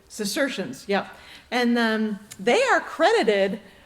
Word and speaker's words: Cistercians: I think I may be mispronouncing that. The Cistercians. I don't know how do you pronounce that, Fitz? Cistercians.